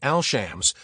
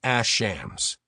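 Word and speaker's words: الشمس: This causes the in to blend with it, so instead of saying al-shams, we pronounce it ash-shams.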